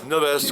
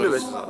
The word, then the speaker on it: Neves: C'est bien ça la prononciation de Neves? Neves. Neves.